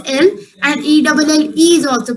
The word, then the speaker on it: elles: ELLES is also pronounced as L, and ELLE is also pronounced as L.